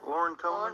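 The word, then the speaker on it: Loren Coleman: Lauren Coleman.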